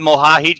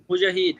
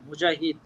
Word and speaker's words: Mujahid: How's it going, Mohahid? Can you hear me? Yeah, this is he's from Bangladesh. Can you hear us, big guy? Oh, maybe I have to unmute him. Unmute. Mujahid, the right pronunciation, Mujahid.